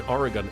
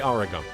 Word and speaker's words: Oregon: The E in Oregon isn't pronounced. It's not. Where did I say Oregon?